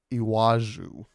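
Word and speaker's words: Iwájú: it's Lagos Nigeria um it's IW and then there's an a with an accent and then a j and then a u with an accent iwaju that's what I'm gonna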